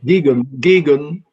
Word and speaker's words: Geoghegan: Geoghegan.